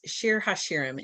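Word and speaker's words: שיר השירים: of the bible the song of songs pronounced sheer hashirim in hebrew this is part six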